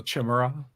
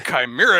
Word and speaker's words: chimera: facade was pronounced facade I went to a high school that mascot was a chimera so chimura but even worse they insisted on pronouncing It the French way shimura I'm like you're both wrong it's a chimera because it's a freaking Greek word uh well and